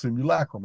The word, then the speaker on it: simulacrum: which I call the simulacrum, which is properly pronounced simulacrum. I just won't say it. I've been doing it too long my way.